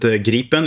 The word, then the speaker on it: Gripen: I would pronounce it Gripen in Swedish, but Gripen is fine as well.